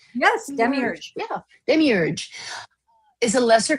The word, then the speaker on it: demiurge: The demiurge, am I pronouncing that right? Yes, demiurge.